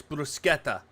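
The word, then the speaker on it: bruschetta: it God damn it brusketa brusketta yeah it's brusketa um Cottage I don't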